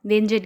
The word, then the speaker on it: Wengen: English and German के according इसका name का प्रोनाउंसिएशन थोड़ा अलग है, या तो आप वेंगन कहिए या तो आप वेंजिन कहिए।